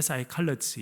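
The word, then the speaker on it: psychology: 그러죠 싸이 칼러지 그것도 싸이 칼러지도 ps로 쓰인 단어로 시작합니다 그러나 앞에 pe를 발음하지 않기 때문에 사이클러치 이렇게 이야기를 하는데요 여기도 마찬가지 있습니다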